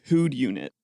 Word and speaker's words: Whodunit: The title on the box just says Who'd Unit. Okay, can you spell that?